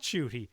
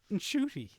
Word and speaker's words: Ncuti: Apparently Ncuti Gatwa has been pronouncing it incorrectly the whole time. Oh no. And his mum told him off. Oh, there you go. Look. So apparently it's not Ncuti, it's Ncuti.